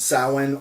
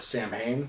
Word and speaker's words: Samhain: New York to start Samhain or Samhain, depending how you want to pronounce it. Samhain is the Gaelic pronunciation of it, which is much more darker and has more occult and paganism, witchcraft more based.